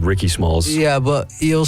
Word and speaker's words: Rickismalls: It's like Ricky Biggie Smalls. Smalls, but Rickismalls.